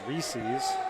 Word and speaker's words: Reese's: Well, apparently, I think the official pronunciation is Reese's. But it doesn't rhyme with pieces. Reese's Pieces.